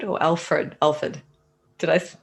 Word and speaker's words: Alford: Alford or Alfred? Alford. Did I pronounce that right?